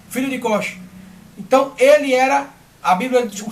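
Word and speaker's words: Cuxe: Cosh, deve se pronunciar dessa forma. Filho de Cosh.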